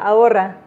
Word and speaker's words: ahora: Bueno, pongámonos al día ahora. Déjame aprovechar. La pronunciación en español es ahora.